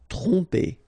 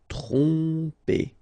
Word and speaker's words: tromper: Tromper, okay, same thing here, OM, so, and after that you get a consonant, so technically you will pronounce it like a nasal here, OM will go like on, tromper, tromper.